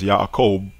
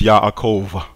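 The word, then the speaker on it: איוב: stopping air flow so if you pronounce the name as yob yob that is the example of the BET being aive now in the Maite vocalization of this name what you hear here is yov yov yov and the dental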